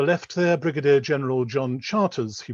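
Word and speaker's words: Charteris: On the left there, Brigadier General John Charters, he pronounced it, Douglas Haig's Chief of Intelligence from 1915 to his removal from intelligence in spring 1918.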